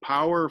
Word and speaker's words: Paur: team name so you sometimes people pronounce my name par so that's fine as well that's how my dad actually pronounces it but i believe the product correct pronunciation is power i know we should know we've been around for a while the powers but i go with power some people say par